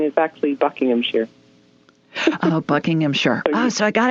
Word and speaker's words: Buckinghamshire: And the correct pronunciation is actually Buckinghamshire.